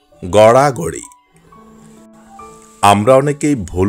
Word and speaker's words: গড়াগড়ি: না সঠিক উচ্চারণ করে বলবো ভিতরে সঠিক উচ্চারণ গড়াগড়ি আমরা অনেকেই ভুল উচ্চারণ করে বলি গড়াগড়ি না ড বিন্দু র এর ব্যবহার রয়েছে সঠিক উচ্চারণ হবে গড়াগড়ি সঠিক উচ্চারণ নৃত্য আমরা অনেকেই ভুল উচ্চারণ করে বলি